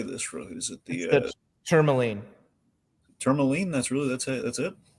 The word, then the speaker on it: tourmaline: Is it the tourmaline?